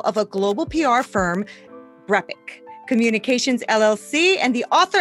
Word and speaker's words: BrEpic: Yeah, did I say that right? Is it BrEpic? Right? Yeah, it's interesting because people never say it right, but you did.